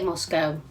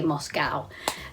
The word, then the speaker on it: Moscow: which i love moscow we say moscow americans say moscow um but yeah moscow